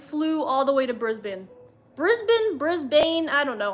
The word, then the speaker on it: Brisbane: was to her husband Brisbane yes I was saying it wrong Brisbane is how you supposed to say it I knew that and